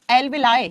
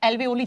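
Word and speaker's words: alveoli: एल्वेलाई या एल्वेओली, जैसे भी आपको प्रोनाउंस करना है।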